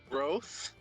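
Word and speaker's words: Groff: last name is gross what say that again growth how do you spell that g-r-o-f-f weird what's the H on the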